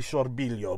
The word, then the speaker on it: Sorbillo: is or sorbilo sorbilio i'm not sure how they say it in italian gino saw billow i'll say it the american way gino sorbillo it's actually sorbilio but anyway i have